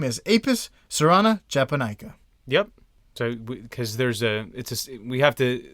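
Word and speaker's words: cerana: Species, Serana or Carana. I'm assuming that's a soft C. Probably Serana.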